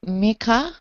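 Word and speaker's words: Mikkah: I would like it to be Mika. I would like it spelled M-I-K-K-A-H, but pronounced Mika.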